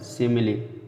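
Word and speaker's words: simile: इन तीनों शब्दों में फिनाली मतलब तो उपसंहार, इन तीनों शब्दों में छोटी ई का मतलब लास्ट में आने वाले ई का छोटी होता है, और तीन शब्दों में और कहीं भी ई का उच्चारण नहीं होता है, लास्ट में आता है।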